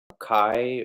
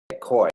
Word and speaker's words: Koi: I'm not saying, did I pronounce your name right? Is it Koi, Kai, or I don't know how to do. I'm sorry about that. Pronounced first time Koi. Yeah, oh, Ko or? Koi. All right.